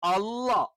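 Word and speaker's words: الله: നാവിന്റെ മധ്യഭാഗം താഴ്ന്നു കിടക്കും അള്ളാ എന്ന് പറയുമ്പോൾ നാവിന്റെ മധ്യഭാഗം ഒന്ന് ഉയർന്നു കിടക്കും അവ മേലെ അണ്ണാക്കിൽ ഒന്നും ടച്ച് ചെയ്യില്ല എന്നാലും എന്ത് ചെയ്യും ഉയർന്നു കിടക്കും അപ്പോ അള്ളാ എന്നുള്ളത് ഫത്ഹ് വരുന്ന സമയത്ത്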